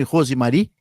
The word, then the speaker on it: Rosemary: Pronunciei certo o seu nome, Rosemary? Isso mesmo, pronunciou correto.